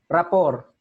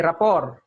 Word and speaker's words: rapport: so yan ah rap r a p o r t silent t ror Okay ror so Anong ibig sabihin